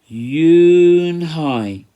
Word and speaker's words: Eun-hye: Kim then turned to Joey she nodded slowly yes it's pronounced Eun Hye and it means grace mr. Kim added eun-hye joey said slowly and this time perfectly yes